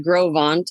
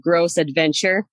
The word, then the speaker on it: Gros Ventre: It's called the Grovant, and it's spelled, well, it's French, it, but they said gross adventure. That's what they're like. We're going to the gross adventure.